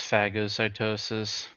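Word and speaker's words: phagocytosis: Oh man, it's it really is pronounced fagosytosis.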